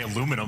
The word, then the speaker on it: aluminum: But Nam Americans say aluminum rather than aluminium just because we don't want to give him too much credit.